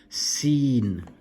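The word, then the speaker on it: سين: You then have seen, seen, a bit like the S, seen.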